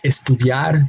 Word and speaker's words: estudiar: So verbs like estudiar, to study, they have the emphasis on that last syllable.